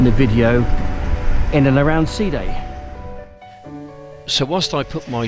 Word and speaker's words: Side: ancient city of day spell s-i-d-e side but it's pronounced sea day very old this place